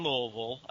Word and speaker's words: Louisville: That's Louisville. I know the pronunciation is weird for some people.